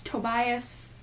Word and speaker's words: Tobias: Knowing now that we see Tobias, it's Tobias because I thought it was Tobias